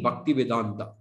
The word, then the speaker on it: Bhaktivedanta: introduced him to my class he said swamiji bhaktivedanta and then he proceeded to tell tell me